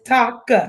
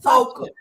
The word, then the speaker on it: Toka: Listen, to me, this does not spell Tasha, so I'm gonna pronounce it because calling this Tasha. This Taka. That's how you know Mama G ain't right, because CH make the ch sound. That's Toka. That's Toka.